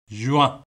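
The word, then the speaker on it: juin: ஜுவான், ஜுவான். அப்போ இதில் பாருங்கோ, கடைசியில் வந்து இஎன் என்று வருது என்ன? இஎன் என்று வரைக்க ஆ என்று உச்சரிக்கணும். அப்போ ஜு ஆ, ஜுவான் என்று உச்சரிப்பீங்க.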